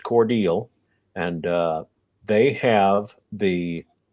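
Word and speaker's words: Cordele: on i-75 cordial georgia looks like cordell uh but it's pronounced cordial and uh they have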